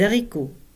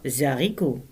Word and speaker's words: haricots: Oignon se prononce oignon et non oignon ou encore des haricots. Le H est aspiré donc pas de liaison. On ne dit pas Zarico.